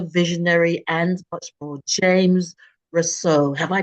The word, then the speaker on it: Rosseau: Welcome to On the Sofa with Esther, where I have an incredible entrepreneur, visionary, and much more, James Rosseau. Have I pronounced that correctly, James?